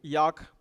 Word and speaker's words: Jaak: So starting with Jaak, his name is pronounced as J-A-K, Jaak Panksepp.